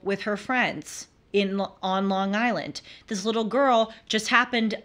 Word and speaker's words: Long Island: be careful and uh I think it's pronounced Long Island they like they run it together sometimes I really wonder